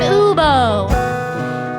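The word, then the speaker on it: eubeau: for adults of sorts someone i like to call an uber now that's spelled e u b e a u you see ubo's not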